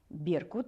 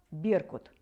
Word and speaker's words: беркут: составили теперь давайте проверим беркут эй живут в горах новое слово беркут ударение падает на первый слог беркут одна из самых наиболее